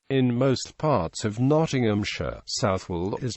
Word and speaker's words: Southwell: more affluent residents in most parts of Nottinghamshire southwall is pronounced sual with a soft th h and a silent